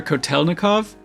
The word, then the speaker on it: Kotelnikov: I'm gonna be using TDR Kotelnikov.